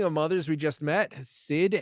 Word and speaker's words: Cyd: Speaking of mothers we just met, Sid Heyman, that's spelled CYD, plays Sue Crawford and later Rena.